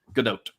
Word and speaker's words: Gadot: You do pronounce the T. Godot.